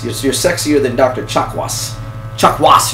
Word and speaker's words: Chakwas: Chakwas, you have to put the emphasis on the second syllable.